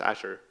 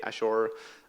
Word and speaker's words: Azure: I I don't either so I say it like to do in Redmond so that is Asher you can say ashure as Asher anything that's fine we understand anyway so